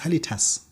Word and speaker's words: halitosis: halito says h a I'm wondering why it is called halitosis because it's halitas halitas it is originally from Greek and this is a westernized and they convert it into halitosis it has nothing with